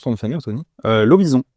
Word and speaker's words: Lovison: Lovison. Lovison, tu vois, j'étais Lovinson. Ouais, à l'américaine, mais finalement, non.